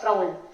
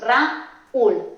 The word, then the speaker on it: Raúl: Por ejemplo, el nombre propio Raúl, aquí la U va acentuada. Así que al pronunciarlo no haríamos Raúl, sino haríamos Raúl. Lo separaríamos y formaríamos un hiato y dos sílabas.